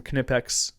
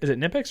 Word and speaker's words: Knipex: It's actually Knipex and I'll tell you why. Back when I said it was Knipex. No, no, I know. So back I know I there's a lot of guys who'll be like it's Nipex. It is not and I'll tell you why. This is why you're wrong. This is funny. So back when I did tool stuff uh there's so many people that said it's Nipex and the family that